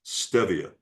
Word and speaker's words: stevia: Well, my first name is Steve. It's spelled st v e. Steve. And if it was stevia, it would be st a, which it isn't. It's correctly pronounced stevia.